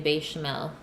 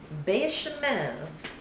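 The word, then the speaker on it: béchamel: on the Ian bechamel it was pronounced it with a short e be Chanel be Chanel bechamel you just have to put an accent on it and it sounds proper that's a long e bed Oh bechamel I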